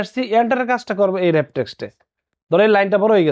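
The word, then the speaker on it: Wrap Text: এখানে লেখা আছে ওয়ার্প টেক্সট, আসল উচ্চারণটা কি হবে, র্যাপ টেক্সট।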